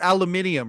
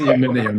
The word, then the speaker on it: aluminium: You're talking about aluminium, right? Okay, Yeah. aluminium. Yes. Aluminum. I get it now. No. You have to pronounce it correctly, sir. Aluminium.